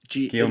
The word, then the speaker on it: Guillaume: Guillaume like Briand.